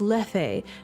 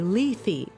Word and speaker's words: Lethe: And I learned to pronounce that in class as Lethe because that's how the ancient folks would have said it. But apparently, according to Google searches and a few different like pronunciation guide websites, modern people say Lethe.